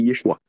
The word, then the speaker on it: Yeshua: En vérité, la véritable prononciation de son nom, c'est Yeshua. Yeshua, et en hébreu, c'est Hamashiach.